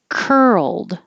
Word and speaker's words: curled: mouthful that's a mouthful curled so this is the earl you're going from an r position to an l position so you keep moving your tongue and you make sound the whole time and an earl will happen curl i don't say the d curl same as world you would hear the